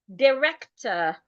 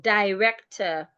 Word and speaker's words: director: So if I have the word or to it, it is best I pronounce this word as director, not director.